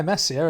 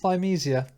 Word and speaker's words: Thymesia: episode on episode exactly actually pronounced thymesia so you know i